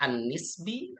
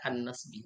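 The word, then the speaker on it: النسب: Boleh itu dibacanya an-nisbi atau boleh dibaca an-nasbi. Tapi yang paling sering itu an-nisbi.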